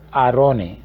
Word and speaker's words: arone: La palabra hebrea para arca es arone, se escribe A-R-O-N-E.